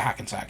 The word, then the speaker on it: Hackensack: Did I say it right? Yeah, Hackensack, yeah.